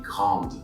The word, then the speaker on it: grande: And because I have a vowel right after the D, this time I pronounce the D. So it sounds like elle est grande.